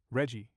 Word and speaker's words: RGGI: The regional greenhouse gas initiative, RGGI, pronounced reggi, is a cap and trade system regulating carbon dioxide emissions in several northeastern and mid-Atlantic states.